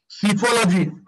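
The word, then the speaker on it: psephology: एक वर्ड लिख रहा, सीफोलॉजी, पी एस ई, सीफोलॉजी लिखो ना, पी साइलेंट है, पी एस ई पी एच ओ एल ओ जी एस टी, सीफोलॉजी क्या होता है देखो।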